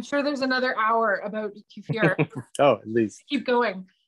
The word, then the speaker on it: kefir: It's actually like kefir. It's not kefir or kefir.